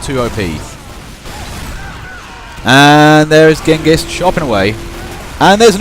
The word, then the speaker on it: Genghis: Genghis. I think the proper Mongolian translation is Chingis there, but, you know, opinions divided on the proper pronunciation of Genghis. But I'll say Genghis anyway.